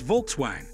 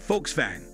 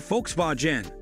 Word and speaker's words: Volkswagen: often mispronounce it as Volkswagen. Again, it boils down to phonetics. That said Folks-vagen or Folks-vah-gen, other two correct pronunciations. The German V is pronounced as the English F.